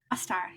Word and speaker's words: Ostara: Ostara, yeah. That's not Ostara. how you would pronounce it.